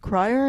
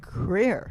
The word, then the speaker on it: Krier: And on my left is Krier. Is that the right way to say it? Yeah. Krier.